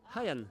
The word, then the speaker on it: Hayian: Comme s'il y avait un H? Oui, il y a un H devant. H-A-I. Ah oui, c'est vrai qu'il y a un H. Oui, c'est Hayan.